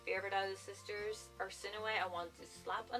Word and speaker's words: Arsinoe: I actually had to look up the pronunciation of Arsinoe because I was not about to call her Arsino throughout the entire book. So Arsinoe, that's how you pronounce her name.